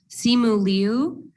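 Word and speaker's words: Simu Liu: to make sure we're saying it right and simulu uh shared his name with phonetic guides okay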